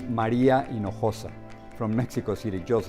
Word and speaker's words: Maria Hinojosa: once one of them I like how Maria pronounces her name it is Maria in Noosa from Mexico City just